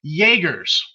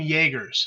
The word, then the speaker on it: Jaegers: governmental accords and um it's jaeger's and it's spelled chuck like chuck yeager you know with a